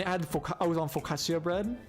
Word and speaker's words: focaccia: added I was on focaccia bread so you pronounce it focaccia so good such a